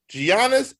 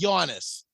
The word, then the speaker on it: Giannis: If he's in the top 10, say his name right. It's Giannis. It's not Giannis. It's Giannis.